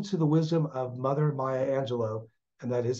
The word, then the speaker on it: Maya Angelou: We must listen to the wisdom of Mother Maya Angelou, and that is how it's pronounced, when she said, courage is the most